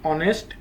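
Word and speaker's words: honest: শব্দের আগে এন বসে যেমন an hour an অনেস্ট অ্যান এই ইয়ার অ্যান অনার এখানে প্রতিটি শব্দেই এইচ এর উচ্চারণ হয়নি বরং এর পরের ভাওয়েলটির মত উচ্চারিত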